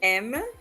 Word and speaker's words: aime: J'aime, il aime, elle aime, on aime. They're all pronounced like the letter M.